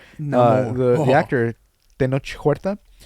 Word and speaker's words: Huerta: actor Tenoch Huerta, or sorry, Huerta. You don't pronounce Mhm. you don't pronounce the H.